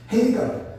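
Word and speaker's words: Hagar: 철자가 하갈이라고, 성경엔 하갈이라고 하는데 보통 헤이갈 이렇게 발음을 해요. 헤이갈.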